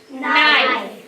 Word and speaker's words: knife: silent letter k k when the K and in together the K is silent I also see an